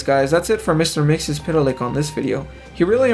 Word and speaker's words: Mxyzptlk: He said, to pronounce his name it's Mxyzptlk.